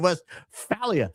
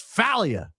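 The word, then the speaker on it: Westphalia: Blessed Carl von Hatberg is spinning in his grave over your pronunciation of West Falia. No, it's Falia.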